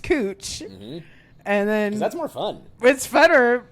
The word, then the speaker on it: Couch: in portland we have a street that's spelled couch c-o-u-c-h but it's pronounced cooch and then that's more